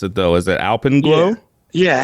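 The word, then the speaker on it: Alpenglow: digging this new album can you help me pronounce it though is it alpen glow yeah Alp and glow you got it yeah and it sounds like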